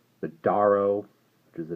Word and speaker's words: Duarough: which is called the daro which is the name I've had trouble pronouncing I probably pronounced it several different ways it's supposed to be like a dwarf so we'll call it